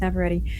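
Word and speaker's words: Navarrete: I've been saying Never, but it's Never Ready.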